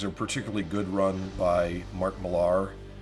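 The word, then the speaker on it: Mark Millar: Um there's a particularly good run by Mark Malar or Mark Miller as it's supposed to be pronounced.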